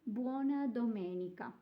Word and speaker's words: Domenica: of the other days but you do say Buona Domenica so you're doing really well you've already learned how to pronounce the days of the week and you've